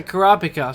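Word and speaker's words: Kurapika: a Luca and then kora pica or cur pika I don't know actually which way to pronounce it I think the dub pronounced a Korra pika so I guess I'll just go with that I would have liked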